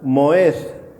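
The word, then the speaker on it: מועד: Esta palabra que se refiere a estaciones, en hebreo es la palabra moed.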